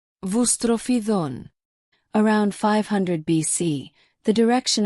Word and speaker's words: boustrophedon: Originally written horizontal lines, either from right to left or alternating from right to left and left to right, called boustrophedon and pronounced boustrophedon.